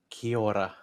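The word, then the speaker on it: Kia ora: let's try it again kiora try and do it like a little bit of a roll of the tongue in the middle i can't see that's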